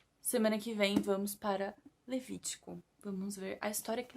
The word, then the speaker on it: Levítico: Levítico. Eu tô pronunciando o nome bíblico errado. Levítico.